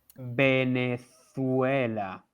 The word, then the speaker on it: Venezuela: last one please venezuela venezuela okay it's v again with sounds as b okay guys so the